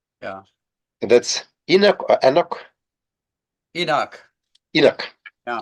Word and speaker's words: Enoch: I would ask you once again, in the peculiar and sometimes strange English pronunciation of the proper names. Yeah. That's Enoch or Enoch?